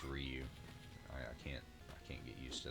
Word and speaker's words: Ryu: But let's go ahead and see if we can fight Ryu here, or called him Ryu growing up. I think everybody did, but I think it's actually pronounced Ryu.